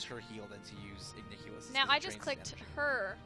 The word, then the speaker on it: Igniculus: Igniculus. Yes, Igniculus. Okay. Yeah. But yeah, so it's much more efficient to use her heal than to use Igniculus.